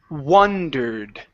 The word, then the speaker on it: wondered: wand w w okay this one here is wondered with an uh W wondered Wonder okay now give me the E the ending wondered wondered okay good so wondered what